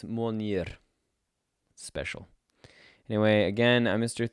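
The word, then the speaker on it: Mjölnir: I don't have the hammer and Mjolnir, right? That's how you say it in American. But I think if you say it in the proper Icelandic accent, it's Mjolnir.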